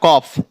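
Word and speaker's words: calf: एफ ये क्या है एफ एफ से पहले एल है तो एल साइलेंट हो जाए तो क्या हो जाएगा कॉफ ऐसे यहां के के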